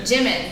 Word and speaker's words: Jimin: Jimin. Yeah. Okay. Yeah. I didn't know if it was Jimin or Yimin or I don't know.